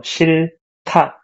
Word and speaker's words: 싫다: So there's this H bottom letter as well. You don't want to read it. So 싫다. But it sounds like ta, right?